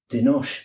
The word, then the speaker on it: Denosh: been very very lucky to be joined by denos you said my name correct pronunciation of everything thank you it's a pleasure